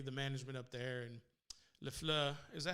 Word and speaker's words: LaFleur: So hopefully the management up there and LaFleur, is that how you say it, James? Is it LaFleur? Yep. It's LaFleur to me.